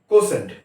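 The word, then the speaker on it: quotient: আই ভি আই ডি ই এন ডি ডি উচ্চারণ হবে এখানে ডিভিডেন্ড ডিভিডেন্ড কে বলবো আমরা ভাজ্য আচ্ছা ভাগফল ভাগফল হচ্ছে কোশেন্ট কিউ ইউ ও টি আই এন টি কোশেন্ট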